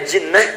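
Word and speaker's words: جِنَّة: Lihat sini, ada junnah, ada jinnah, ada jannah. Jinnah, jinnatun, kemudian jannatun. Tulisannya sama, harokat awalnya yang beda.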